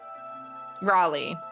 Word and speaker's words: Raleigh: Be like Wall-E but raw. Raleigh.